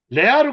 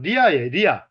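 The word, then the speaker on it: לאה: 이번에 이제 레아로 가겠습니다. 레아는 히브리식 발음은 리아예요. 리아가 무슨 뜻인지 아세요?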